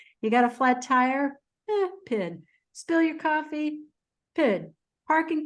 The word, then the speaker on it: pyt: a word for this it's called PID it's spelled PYT and it's a cultural